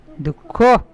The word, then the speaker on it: দুঃখ: আর খ কি হল দুঃখ হ্যা এটা বিসর্গটা খ এর মতন হয়ে যাবে উচ্চারণটা এখানে ঠিক আছে হালকা হালকা তাহলে কি হল দকারে